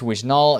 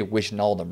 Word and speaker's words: Wijnaldum: You know, even this Wijnaldum is down a decent amount, or Wijnaldum. I say his name terribly every time. You don't say Wijnaldum, right?